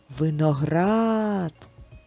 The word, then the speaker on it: виноград: град скільки складів 3 і наголос у нас падає на третій склад на останній запам'ятай будь ласка в